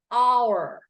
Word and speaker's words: hour: h o Ur but when we pronounce it it's going to be silent h so it's hour for the last half